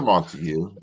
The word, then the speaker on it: Montague: I think it's a Montague in my eyes. Yeah, the way it's spelled. Correct. I do know a little bit about fucking Shakespeare, and that sounds like a Montague to me.